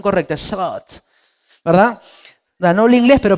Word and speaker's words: Sabaoth: Yahvé Sabaoth, así con la pronunciación correcta, Sabaoth, ¿verdad?